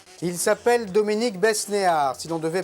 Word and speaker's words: Besnehard: Il s'appelle Dominique Besnéard. Si l'on devait prononcer son nom à l'anglaise, on dirait Besnéard, H-A-R-D.